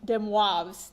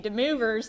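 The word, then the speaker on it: de Moivre: uh the movers theorem i believe this is french and it's pronounced dem waves theorem but if you want to call it if you wanna if you wanna show where you're from and say the movers theorem we're gonna talk about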